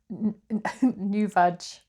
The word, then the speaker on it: NuVag: NuVag.